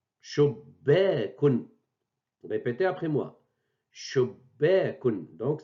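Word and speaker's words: شُبَّاكٌ: On la double avec la shed, la présence de shed, et bien sûr avec fatha le tiré, et on prononce shubbekun. Shubbekun.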